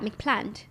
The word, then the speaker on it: McPlant: Yeah, but I think you should say it like that, McPlant. If you extend the A, it rolls off the tongue.